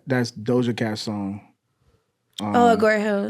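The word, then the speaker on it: Agoura Hills: Hey, tell me about how you got casted, and how do you pronounce that's Doja Cat song? Agora Hills. Agora Hills, yeah.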